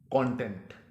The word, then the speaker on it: content: अब अगर तो आप इसको मवाद के मानों में प्रोनाउंस कर रहे हैं तो इसका तलफ़्फ़ुज़ होगा कंटेंट। कंटेंट, इस खबर के कंटेंट